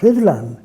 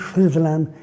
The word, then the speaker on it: Rhuddlan: Now then, if you said to me, "Could you talk about Rhuddlan?"